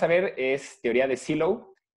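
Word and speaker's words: Sylow: Por cierto, el apellido se pronuncia Silow.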